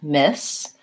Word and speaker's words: Miss: Ms. versus Miss has the same first two sounds, but the voiceless S sound.